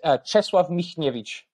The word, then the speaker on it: Czesław Michniewicz: If you had to be the coach, right, Czesław Michniewicz, is that how you pronounce it? I'll just say it now. It's Czesław Michniewicz, if you want to say it like that.